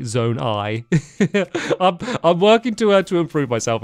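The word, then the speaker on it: Zonai: And there's also loads of people that keep commenting saying that I keep saying Zone E instead of Zone I.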